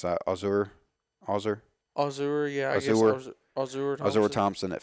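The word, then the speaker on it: Ausar: How do you pronounce that? Azur, yeah.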